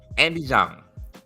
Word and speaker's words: Andie Zhang: Andie Zhang.